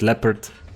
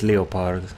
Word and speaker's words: Leopard: which video it was somebody corrected me how to say the the lair part it's you pronounced leopard a real leopard a and but I don't know why I pronounce it leo part maybe because of the German pronunciation they the Germans say it lay apart so I say the little part always I don't know right but thank God I know that leopard is the real pronunciation at that time but